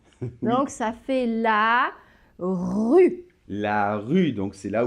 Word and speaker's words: rue: marche une donc là la rue alors évidemment le r on en a déjà parlé et faites attention le final évidemment ne se prononcent pas donc vous avez la rue et dernier mot de